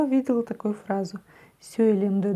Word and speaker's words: сөйлемді: Разбираем третий слог, потому что со вторым у нас все в порядке. Как это пишется палочка с точкой, как она читается, да? Все на самом деле очень просто. Мы, чуть-чуть улыбаясь, языком упираемся в нижние зубки. И у нас получается звук «ы». «ы». «ы». Сөйлемді. Сөйлемді. Сөйлемді.